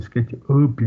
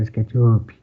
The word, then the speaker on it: SketchUp: Algumas pessoas inventaram uma pronúncia para SketchUp aqui no Brasil. Não, é SketchUp. No americano fala SketchUp, né? É porque a palavra up, sozinha, ela é pronunciada up.